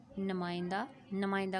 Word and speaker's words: نمائندہ: خیر کے ایسے ہی نمائندہ کا تلفظ دیکھیں جی، حمزہ اوپر نہیں آتی، نیچے دو نقطے یہ کے آتے ہیں، نمائندہ، اور روشنی کے